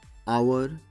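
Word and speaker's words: hour: একইভাবে অনার, আওয়ার এদের শুরুতে এইচ থাকলেও উচ্চারণ এইচের নয়, উচ্চারণ অ বা আ, তাই তাদের আগে অ্যান বসবে।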